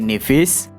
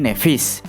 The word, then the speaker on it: Nevis: Kata N kita terjemahkan menjadi dan sementara kata nifis tidak kita ubah tapi pelafalannya kita sesuaikan. dari Nivis menjadi Nevis dalam bahasa Indonesia.